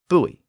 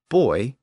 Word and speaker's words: buoy: became a dip thong buoy but the important Point here is that neither the British boy nor the American buoy was considered the correct pronunciation early on but over